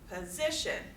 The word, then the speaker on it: position: Position, position. So we have it on the second syllable there.